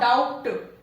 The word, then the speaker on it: doubt: Doubt and not doubt. It is the B is silent here. Letter B is silent here. It is doubt.